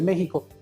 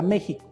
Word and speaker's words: México: Vamos a utilizar una palabra esdrújula, la cual se acentúa en la tercera sílaba. Entonces vamos a utilizar la palabra México.